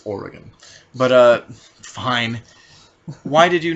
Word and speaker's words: Oregon: I'm saying Oregon ironically because that's not how it's pronounced. And if you pronounce it that way, you should shut up. Okay, it's Oregon.